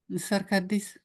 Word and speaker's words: Sarkadis: Sarkadis. Can everybody hear how we hear 3 equal syllables? Circadis.